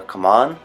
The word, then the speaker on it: Khamun: episode is called the palace of common or come on I looked it up two different ways and that's how you pronounce it I start I'm reverted